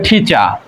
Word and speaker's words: teacher: তাহলে আমরা এটাকে টিচার বলি, কিন্তু টিটা যদি ঠ হয় আর শেষে আরটা থাকলে সেটা আরটা কিন্তু উজ্জ্ব থাকে, মানে উচ্চারণ হয় না, তাহলে এটা উচ্চারণ হবে ঠিচা।